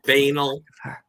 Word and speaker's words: banal: It's pronounced banal.